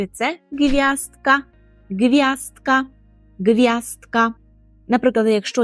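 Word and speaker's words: gwiazdka: - це зірочка і зірочка польською - це гв'яздка гвяздка гвяздка Наприклад якщо є якесь завдання з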